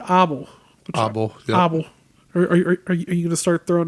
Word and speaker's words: Abel: couple and their son we would say Abel but they they pronounce it abble abble abble are are